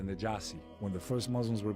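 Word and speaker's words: النجاشي: In Arabic, it's pronounced the Najasi.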